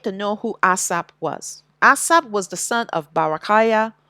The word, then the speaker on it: Asaph: Ashayar, which means a song or psalm of Asaph, who is, people pronounce his name as Asaph. It's Asap.